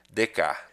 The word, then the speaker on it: Descartes: por causa de Renê dec perceba que é o nome que tá escrito aqui Descartes na pronúncia é diferente tá bom então vamos